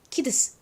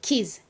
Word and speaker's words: kids: 그런데 이거를 만약에 D 소리와 S 소리를 각각 발음을 하면요. 키드스, 키드스 이렇게 드스 발음이 좀 탁탁 걸리잖아요. 이게 좀 마음에 안 들었던 거예요. 그래서 이거를 발음을 합쳐버립니다. 어떻게 발음이 되냐면 kids, kids 이렇게 즈 발음이 됩니다.